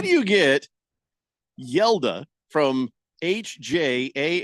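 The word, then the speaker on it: Hjalte: how do you get yela from HJ a l t the the the H is silent the J is pronounced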